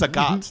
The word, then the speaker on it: Sagat: It rhymes with Saget. Yeah, I mean Right. it's Sagat.